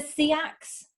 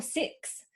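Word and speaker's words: Seax: They're kind of pronounced either Siax or Siax or Six, so it's the Kingdom of East Siax.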